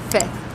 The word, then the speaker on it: fifth: So the easier way to pronounce fifth is fifth. Yeah, just skipping that second F, the third letter.